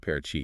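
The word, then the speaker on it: Paraty: Pronounced parachi.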